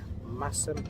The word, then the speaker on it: Masham: How did I pronounce it? Oh yeah. So we're stopping at Masham? Massam Old Station Cafe and Bistro for a cup of tea and a salad.